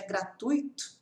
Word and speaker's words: gratuito: é tão fazendo simples como por exemplo gratuito as pessoas falam grato e na verdade é gratuito né então a gente vai